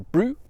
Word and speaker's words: brut: That's in the extra brut category, the extra brut category if you prefer to pronounce the T.